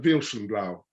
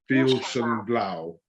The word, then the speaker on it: Veilchenblau: Vale Chamblot. Yeah, not too bad. Veilchenblau. Veilchenblau.